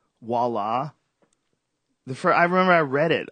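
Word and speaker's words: voilà: There's a few like voila. I remember I read it off a script. I was like viola, like voila.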